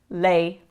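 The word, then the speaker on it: lei: it written it's written with a lowercase L lay it's pronounced the same that's she and the word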